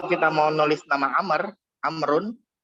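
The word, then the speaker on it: عمرو: mau nulis nama Ammar amrun itu kita harus tulis baut di akhirnya jadi am Run tapi setelah roh harus kita tulis bau amrun jadi amrun Wow di sini ada secara lisan saja tapi secara pengucapannya tidak ada pun kalau Umar maka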